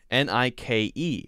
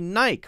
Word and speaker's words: Nike: top left here n-i-k-e a lot of people say oh yeah i know about the silent e i know all about it m-i-k-e the name mike l-i-k-e like so this must be nike right wrong it is nike nike nike nike it's how it's pronounced n-i-k-e is not pronounced